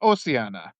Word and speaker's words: Ossiana: I guess I pronounced your name wrong. It's Oiana.